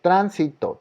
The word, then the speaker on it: tránsito: esdrújulas no ya aquí es la palabra tránsito porque yo conté las sílabas y es tránsito trans es donde lleva la sílaba tónica y le puso un